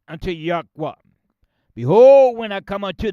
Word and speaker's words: Yahweh: In the Shemitic Hebrew dialect language, alphabets, Yohe Wahi. And we pronounce it Yahweh. That's how we pronounce it, my brothers.